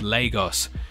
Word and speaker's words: Lagos: in the city, that it's pronounced Lagos.